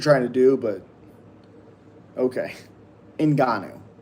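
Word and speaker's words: Ngannou: I'm not racist, but the but that pronunciation is great. It's Inanu. Like I I just liked it already. Appreciate you. I mean, I mean, I don't I see what you're trying to do, but Okay. Inanu.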